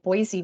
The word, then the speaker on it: Boise: saying it right, because when I moved to Boise, I wasn't saying Boise right, so I was corrected. So Boise, it's got to have the C in it.